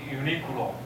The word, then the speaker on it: Uniqlo: one is called uh uniqlo but taiwanese pronounced unique law right unique law but